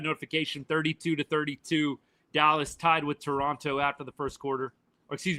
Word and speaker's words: Toronto: 32-32 Dallas tied with Toronto after the first quarter. Excuse me, Toronto. Don't pronounce the second T. For whatever reason, that was a huge thing on social media before the World Series. Toronto.